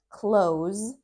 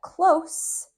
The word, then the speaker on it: close: That is an example of close with the hard Z sound. It is a verb. But close with that soft s sound is an adjective.